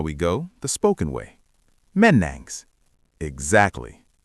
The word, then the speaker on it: Mennäänks: But on the street in Helsinki, they use a shortcut. They swap the ending for a sharp. How would you ask a friend, shall we go the spoken way? Menangs.